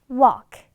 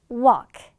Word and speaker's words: walk: 역까지 걸어갈 수 있습니다 라는 뜻인데 이때 얘들아 걷다가 work 아니다 얘들아 work의 발음은 요거이고 걷다는 walk, walk 이렇게 들릴 거고 그렇게 발음해 주시면 되겠습니다.